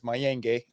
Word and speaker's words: Mayenge: My last name is Mayenge, Mayenge.